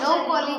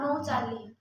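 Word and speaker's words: nouchali: বাংলাদেশের স্যার উচ্চারণ কি হয়? নৌকলি হয়? নৌচালি।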